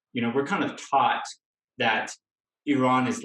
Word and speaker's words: Iran: I know I'm super American, so it's Iran. What's the right way to say that? Good question. Okay, so we start with the pronunciation. Iran.